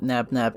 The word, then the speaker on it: Nabnab: calm him down it's also shown that nabnab is the correct pronunciation which is a relief